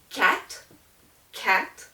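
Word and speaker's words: quatre: help you remember that this R uh is pronounced okay and then you have cat cat and it looks almost like if you think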